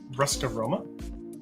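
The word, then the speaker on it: Ruska Roma: Ruskaroma. Yeah, a Ruskar Roma.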